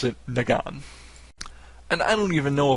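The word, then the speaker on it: Negan: be hearing it so I'm just going to pronounce it nagan and I don't even know if the last name cook is correct or not but it's such a different first name nagan that I'm going to assume it's the same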